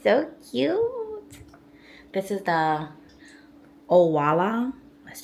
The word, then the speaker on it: Owala: This is the Owala.